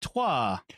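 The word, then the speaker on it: Troyes: we might say that Troy is which is pronounced tois yeah thank you so much Aaron it's good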